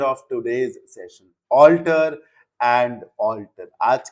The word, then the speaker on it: altar: Alter and alter. आज के confusing pairs का ये last pair है. Alter and alter. Pronunciation 100% same है. Spelling में end में a और e का difference है.